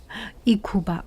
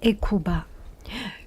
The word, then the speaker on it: Hecuba: She called H-E, I think H is not pronounced, does not pronounce, Hecuba, Hecuba, Queen Hecuba.